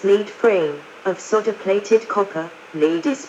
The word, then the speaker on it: lead frame: Traditionally, these wires have been composed of gold, leading to a lead frame, pronounced lead frame, of solder-plated copper.